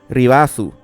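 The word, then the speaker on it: リバース: La palabra Reverse en katakana se escribe como sigue y más o menos se pronuncia Ribazu.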